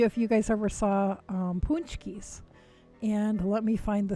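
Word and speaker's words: pączki: to spell it these are pronounced punchy but you wouldn't look at it because polish has a mind of its own and they are amazing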